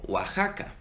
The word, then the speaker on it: Oaxaca: Por eso en nombres viejos, particularmente en México, ves que se utiliza la X y se pronuncia como J, como en México o en ciudades como Oaxaca.